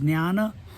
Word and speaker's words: Jnana: This knowledge, the knowledge, Jnana, Jnana, a correct pronunciation is Jnana.